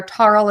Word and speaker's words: Tarle: And you can see at the bottom there, Tarle is spelled T-A-R-L-E, speech, S-P-E-E-C-H, that's all one word, .com.